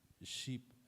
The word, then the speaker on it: ship: If we make mispronunciation in English, like when we pronounce ship, ship, right?